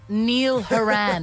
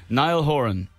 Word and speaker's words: Niall Horan: yards yeah very much what's the worst pronunciation of your name that you've heard Jesus Neil Neil Duran that's pretty bad Niall Horan okay we say it well yeah